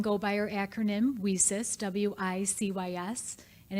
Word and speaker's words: WiCyS: We often go by our acronym WiCyS, W-I-C-Y-S, and it's pronounced WiCyS, like we sisters.